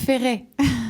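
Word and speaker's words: Cap Ferret: Alors, comment prononcez-vous Cap Ferré ? Le Fer ? Voilà, ça ça va faire plaisir à notre auditoire. Le ferra.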